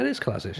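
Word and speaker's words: Kolašinac: Kalazanic is... Kalazanic. Yeah, it is Kalazanic.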